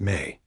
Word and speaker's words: me: His legacy is tied to one of the most fascinating and mysterious concepts in all of Sumerian thought, the sacred me, pronounced may.